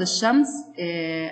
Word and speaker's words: الشمس: عند إضافة اللام إلى كلمة الشمس تصبح الشمس، وتلفظ الشمس، أي أن اللام لا تلفظ، بينما عند إدخال اللام